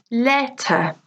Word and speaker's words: letter: Letter, letter. Exam, exam. Dinner, dinner. Police, police. Okay, so let's listen again to stress on the first syllable. We have market, letter, dinner.